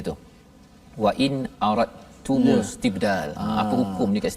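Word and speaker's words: أردتم: Wa in aradtum istibdal. Apa hukum ni kat situ sikitlah ya. Kita sebut aradtum wa in aradtum. Tak ada pun huruf dal. Kat situ tak bunyi pun dari sudut sebutan huruf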